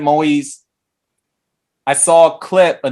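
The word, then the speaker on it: Moïse: last name right because i heard it pronounced maui's pret i'm gonna say president moise i saw a clip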